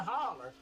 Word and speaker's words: hauler: hauler let me see the hauler you gotta say right it's a holler i'm seeing it right